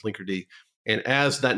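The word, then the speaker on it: Linkerd: that's like the demon so now we have this thing that looks like it's pronounced like something else but it's pronounced Linker and as that name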